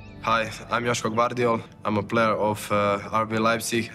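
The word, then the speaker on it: Joško Gvardiol: how do you say your name hi I'm Yos bardol I'm a player of RV and national team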